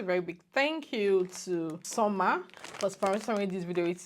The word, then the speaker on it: Svmer: Hey guys, before we continue with this video, I want to say a very big thank you to Summer for sponsoring this video. It is spelled SVMER.